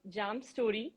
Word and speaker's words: J+AM Storey: you pronounce it like jam story basically we are two partners me janishi and my partner amit so uh m stands for his initials j stands for mine so it's like j plus m so we pronounce it